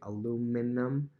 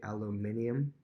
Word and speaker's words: aluminium: that are different like we say aluminum they say aluminium which is a little interesting so just different things